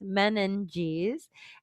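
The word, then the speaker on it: meninges: It's pronounced menenes and they are the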